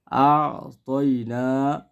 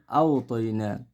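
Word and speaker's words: أَعْطَيْنَا: আতয়না, এই জায়গায় বেশিরভাগ মানুষে ভুল পড়েন আওতয়না। উচ্চারণটা হবে কি আতয়না।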